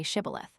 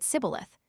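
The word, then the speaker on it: shibboleth: let none pass who could not say shibilith. The Ephraimites being of a different tribe could not frame to pronounce the word right, but called it cibilith, which proved them enemies and cost them their lives.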